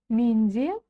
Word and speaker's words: менде: И помним, у нас написана буква Е, значит и читается буква Е, не буква И. И не буква не менде, а менде.